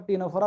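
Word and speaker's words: Ctenophora: for Coelenterata, C फॉर, भले वो सी silent है पर टीनोफोरा, पी फॉर प्लैटीहेलमिंथस, ए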